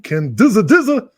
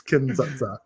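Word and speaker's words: Kin-dza-dza: Soviet film Kin Dza, which for weeks I've been pronouncing Kin Dizza. So funny every time. It's Kin Dza.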